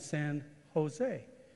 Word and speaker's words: San Jose: El Cajon she said here is pronounced with an H it's El Cajon and San Jose she said how long